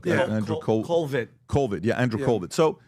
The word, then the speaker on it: Colvett: Colvert? Andrew Colvett.